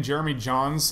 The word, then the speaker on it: Jeremy Jahns: on YouTube uh just look for my name Jeremy John's uh it's spelled j a NS because I like spelling